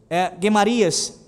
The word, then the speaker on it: Gemarias: Elisama, o escrivão, Delaías, filho de Semaías, Eunatã, filho de Aquibor, Gemarias, a pronúncia adequada é essa, filho de Safã, Zedequias, filho de Ananias, a todos os outros príncipes.